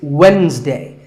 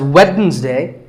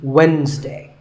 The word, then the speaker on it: Wednesday: It's Wednesday. The D is silent. Sometimes it's pronounced as Wednesday, but the proper way to say it is Wednesday.